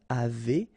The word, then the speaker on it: avez: nous avons, vous avez, a Z at the end will produce this E sound, avez, little link between the